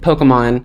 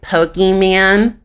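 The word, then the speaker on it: Pokémon: in so for example instead of pokemon which is a very simple word they were like pokey man no it's not pokey man and you know that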